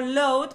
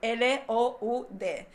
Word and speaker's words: loud: lout lo mismo dijo load probablemente porque se escribe con o también o u l o u d pero también se pronuncia con a totalmente española Así que tendría que